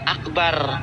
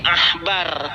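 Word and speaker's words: עכבר: nomor ke e 29 itu dibacanya bukan Akbar tetapi Ahbar karena menggunakan Ain ah bukan Ak bukan ini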